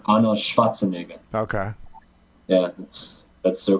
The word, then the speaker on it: Arnold Schwarzenegger: And it's pronounced Arnold Schwarzenegger.